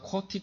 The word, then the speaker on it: QWERTY: 그래서 우리가 쿼티 키보드라 그러잖아요. 쿼티가 무슨 뜻이냐면 전혀 뜻이 없어요. QWERTY 쫙 붙어 있는 걸 그냥 붙여서 발음해갖고 쿼티라고 부르는 겁니다.